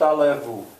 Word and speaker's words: allez-vous: Comment allez-vous? French is also full of silent letters. Why don't you hear the Z?